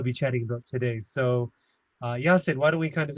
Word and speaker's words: Yanchan: Today, I have a special guest, pronounced Yanchan. I've been saying his name wrong all this time.